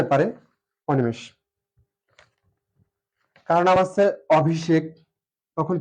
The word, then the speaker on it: অভিষেক: উচ্চারণটা হবে ও V shake. এখানে আছে মূর্ধস্ব, কিন্তু উচ্চারণে আমরা জানি তালবস্য লিখতে হয় যদি ছয়ের মতো উচ্চারিত না হয়।